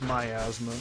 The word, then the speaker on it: miasma: I never heard anyone say it like that. It's myasma. No one says miasma. I've never heard that.